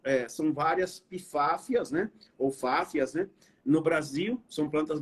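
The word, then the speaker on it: Pfaffia: Fáfia, né? Fáfia, né? São um P mudo, né? No latim, a gente não pronuncia o P mudo, né? Então, a gente pronuncia fáfia, né?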